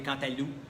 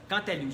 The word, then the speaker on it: cantaloupe: fesses rondes comme des cantaloupes. Cantaloupe, je me suis toujours posé la question, est-ce qu'on dit cantalou ou cantaloupe? Je pense qu'on dit cantalou, on ne prononce pas le P.